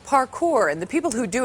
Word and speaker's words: parkour: It's pronounced parkour.